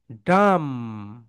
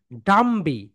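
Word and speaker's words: dumb: Right pronunciation কি বলতো my dear soldiers? ডাম, ডাম, tram, not ডাম্বি। ডাম্বি কিন্তু হবে না। কেন বলতো? এটা হচ্ছে বি হচ্ছে সাইলেন্ট লেটার। বি কি বলতো? Silent letter.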